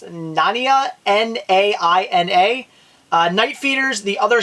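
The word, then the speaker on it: Naina: 2, The Killing Grounds, I guess it's pronounced Nania, N-A-I-N-A, Night Feeders, The Other Side, and Within the Rock.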